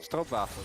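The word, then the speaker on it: stroopwafel: If you guys are curious how to spell what Mal just said, it's spelled like stroop waffle. Stro waffle. Yeah. Yeah. Just cuz, you know, not all of us are Dutch and that doesn't sound anything like what it spelled like to us non-Dutch speakers.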